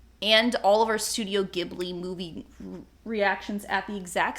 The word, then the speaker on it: Ghibli: But if you've listened to any of our episodes, we did eventually cover all of Studio Ghibli, or Ghibli, however you'd like to pronounce it.